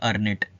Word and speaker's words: ERNIT: तो आपको देखिए, आप पढ़ने में जब आप इसको प्रोनाउंस करेंगे तो बोलेगा अर्नेट। ठीक है, अर्नेट।